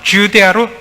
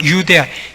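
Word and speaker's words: Iudaea: 유데아도 영어로는 주데아로 J로 됩니다만은 원래 발음은 유데아, 예수나 마찬가지 발음이기 때문에 헬라어도 그렇고 라틴어에서도 I를 씁니다.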